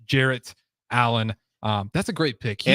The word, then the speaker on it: Jarrett Allen: No, Jared Allen, NBA. Jarrett Allen. Okay, not Jared. Jarrett Allen.